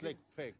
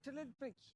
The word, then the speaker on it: Tlaquepaque: Je vous montre comment ça se dit. Telakpak. C'est Tlelpec, c'est ça.